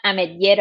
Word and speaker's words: Ametller: en la O sea no tiene acento específico pero se pronuncia amer es un apellido Catalán y ahora que pasé